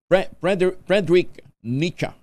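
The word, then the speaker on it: Friedrich Nietzsche: fredrick nach an yung Ayun Frederick nicha palang pronunciation niyan Frederick nicha ang sabi niya sometimes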